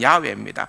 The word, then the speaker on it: 야훼: 여러분, 우리말로 번역된 여호와라는 단어, 옛날에도 하나님의 이름 할 때 설명을 했습니다마는, 그 자음으로서는 그냥 야훼라는 단어, 야훼, 발음하자면 야훼입니다.